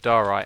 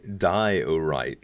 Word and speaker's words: Diorite: Diorite. Like diet right? Diorite.